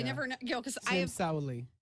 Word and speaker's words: Sauli: Because I am Sauli.